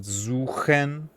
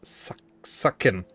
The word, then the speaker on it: suchen: That's why most English native speakers laugh at the word suchen. Because they pronounce it very differently. They don't pronounce it suchen, but sucken. They pronounce it like sucken.